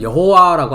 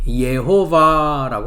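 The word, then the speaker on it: יְהוָה: 그래서 나의 한 날에서 다섯째 날까지는 예호바라고 하고 있는, 한글에서는 여호와라고 하죠. 우리가 이제 히브리어 발음을 우리가 생각해 보면 예호바라고 합니다.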